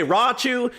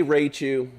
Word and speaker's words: Raichu: You can say Raichu, you can say Rachu, you can say Rauchu, you can say Richu, you can say Rochu. I don't give a crap. I say Raichu because I'm American and that's how I pronounce it. That's how it's spelled. R-A-I makes Ray.